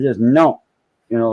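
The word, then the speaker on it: non: no o n but you don't pronounce the N at the end it's just no you know like that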